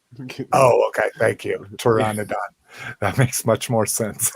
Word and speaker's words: Pteranodon: Pteranodon, the P is silent. Oh, okay. Thank you. Pteranodon.